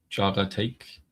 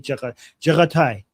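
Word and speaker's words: Jaghatai: How do you pronounce this again? Jaga take. Jaga take. Okay, take. Jaga take. Yeah, but the take is, but I think it's Jaga Tai.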